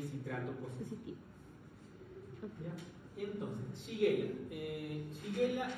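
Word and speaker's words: Shigella: positiv positivo ya entonces shela eh shela es sí que es shela pero no sé por qué por costumbre siempre se he dicho xiguela y ya estoy viejo para cambiar la costum entonces la mantendremos así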